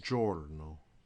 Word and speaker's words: giorno: a sea is except the soft G is g j is in jello one word you may